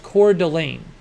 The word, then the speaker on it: Coeur d'Alene: Sean says it's pronounced Coeur d'Alene.